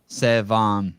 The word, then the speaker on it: Sevan: Sevan.